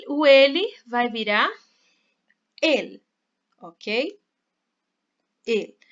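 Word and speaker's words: él: palavra e quer falar el. Mas a pronúncia correta dessa palavra é el. A letra E no espanhol ela é sempre fechada, não importa se está com esse acentinho aqui.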